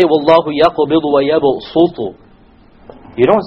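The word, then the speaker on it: يبسط: It is to tell you that it is preferred to pronounce it with a seen. So you don't say wallahu yaqbidu wa yabsutu.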